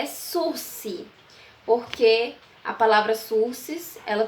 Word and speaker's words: sursis: a forma se pronuncia a forma que se pronuncia Esso se porque a palavra sursis ela tem origem Francesa